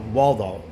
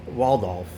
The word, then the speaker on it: Waldhoff: and uh it's about it's about Waldo Waldorf I guess or Waldorf is what you pronounce it Waldorf and here it